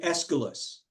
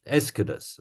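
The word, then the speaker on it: Aeschylus: guy is Asus right I pronounce his name escalus escalus yeah that's not as Asus okay I I take your your word esus okay he wrote among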